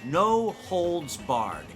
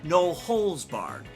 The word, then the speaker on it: no holds barred: sure there's some clarification, because this one gets mispronounced a lot. The phrase goes no holds barred, H-O-L-D-S, not no holes barred, H-O-L-E-S.